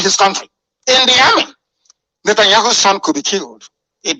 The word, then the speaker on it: Netanyahu: The Prime Minister of Israel, Benjamin, that's the correct pronunciation, Netanyahu, is seeing the son off into the military.